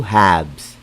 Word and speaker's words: halves: parts we call that two halves remember it's silent l i repeat two halves what if the question